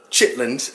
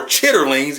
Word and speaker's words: chitterlings: me a picture of the infamous chitlins as we say in the south or chitterlings if you want to pronounce it correctly basically big in pig